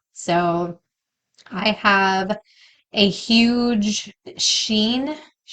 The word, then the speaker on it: Shein: So I have a huge Shein. How do you say that? It's Shein.